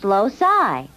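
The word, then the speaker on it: loci: no not locuses more than one Locus is pronounced loai I think we should spend a little time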